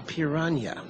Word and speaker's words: piranha: at this smiling creature a piranha or as they pronounce it here a pirna those teeth could cause